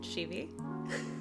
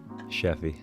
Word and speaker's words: Sheffey: die i'm here with scheevy cheffy that's right that's right uh i have guests